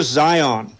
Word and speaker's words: Zeihan: Oh, his name's Peter Zion. His last name is spelled Zeihan.